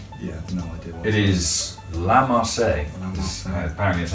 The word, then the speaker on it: La Marseillaise: It is La Marseillaise. Apparently that's how you pronounce it, but either way.